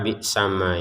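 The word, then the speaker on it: بِئْسَمَا: Huruf mimnya ini harokat fathah, kemudian ada alif. Kita bacanya itu dua harokat ya panjangnya. Bi'sama itu awalnya seperti itu. Namun ternyata di depannya ada shin sukun ini, maka ya ketika digabungkan panjangnya ma sudah tidak ada lagi.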